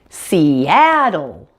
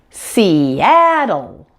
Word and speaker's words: Seattle: on the app and that dark L at the end and we have seattle seattle that's all there is